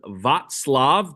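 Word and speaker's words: Václav: At the end of the month, the guy named Vatlav, that's how you pronounce it. That's how your book says it's pronounced. Vatlav Havl, a writer who played an important role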